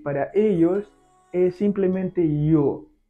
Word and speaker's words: yo: Y para ellos es simplemente yo. La pronunciación es algo simple, no es como yo en español, aunque se escribe igual, pero es diferente. Es como si fuera una I y una O.